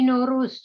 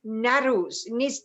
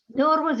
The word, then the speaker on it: Nowruz: are saying Y-N-O means Naruz, there is no ruse. So no, because we pronounce it like a W sound, no, or that, so N-O-W, R-O-U-Z, or R-O-O-Z, doesn't matter.